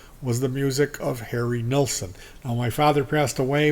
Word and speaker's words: Nilsson: albums now for one I pronounce his name Nelson not neelsen because that's the way that it's spelled for two when I